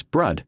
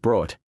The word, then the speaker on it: Brud: It's Brud, not brought.